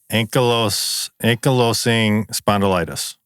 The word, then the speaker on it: ankylosing spondylitis: And you're looking up how to pronounce it. Oh, yeah. Ankylosing Ankylosing spondylitis.